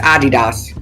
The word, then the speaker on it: Adidas: Adidas. Yeah, it's Adidas. We don't say it right.